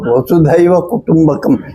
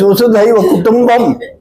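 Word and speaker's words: वसुधैव कुटुम्बकम्: Our Prime Minister does not even know how to pronounce that statement about Vasudhaiva Kutumbakam. He says Vasudhaiva Kutumbam.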